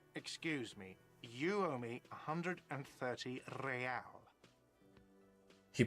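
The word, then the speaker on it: réal: all not so fast you owe me 130 Royale what's real oh excuse me you owe me 130 real he pronounce PR the r with a mock aristocratic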